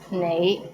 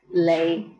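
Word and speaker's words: 你: is the word you the right way to pronounce it is nei but in hong kong many people pronounce it as lei the question for this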